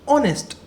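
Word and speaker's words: honest: अब एक ऑनेस्ट मैन जो है उसमें तो हम पहली साउंड अगर देखें तो ऑनेस्ट इसको ऐसे ही बोलते हैं ना ऑनेस्ट। तो ओ तो वोवेल साउंड है।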